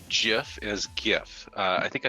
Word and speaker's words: GIF: But the thing is the actual creators of the Gif call it Jif.